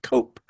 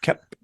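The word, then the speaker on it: Koepp: to pronounce his name I for most of my years have said cope but it is kep and um it I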